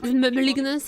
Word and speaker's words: Malignance: Also recap is going for the malignance malignance is how you pronounce it.